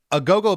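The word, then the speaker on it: agogo: A go-go bell, it's spelled A-G-O-G-O, a go-go bells.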